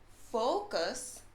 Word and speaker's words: focus: you know f us so you have to say focus not cuz right so it's focus not for but full so you guys try it full cuss not not that one all right so i